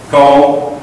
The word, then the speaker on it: comb: Comb. contact lenses, razor, hairspray, sunblock. Block the sun. That's all it does, just blocks the sun. Any questions about these words? Meaning, pronunciation, comb, no B.